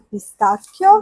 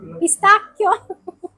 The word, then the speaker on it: pistacchio: ok, delle olive, il famoso formaggio al pistacchio, Wow, pistachio, Ok.